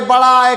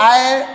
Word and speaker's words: ऐ: बड़ा उऊ उसी तरह छोटा ए बड़ा ए करने लगते हैं तो ये आप अगर इस तरह उच्चारण करते हैं तो वहां पूर्णता गलत है आप इसको ए ऐ ओ औ ही कहेंगे छोटा ए और बड़ा ए मत कहिए अब देखो कुल स्वरों